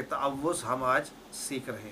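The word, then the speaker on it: تعوذ: इसका सही जो है प्रोनाउंसिएशन हम सीख लें, और वो है जब तअव्वुज़ है तो उसको ताऊज़ नहीं पढ़ना, इसको ऐसे पढ़ना है तअव्वुज़।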